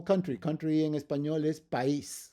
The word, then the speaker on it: país: Country in Espanol is país. País, that's going to be 2 separate syllables, and you put the accent to separate them.